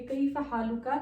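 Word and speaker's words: كيف حالك: ये काफ को कर देते हैं साइलेंट, हा लुक, हा लुक, काफ को इन्होंने कर दिया साइलेंट।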